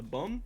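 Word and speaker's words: Baume: A bomb? A bomb. A bomb? I wrote it down correctly, I just forgot how to pronounce it.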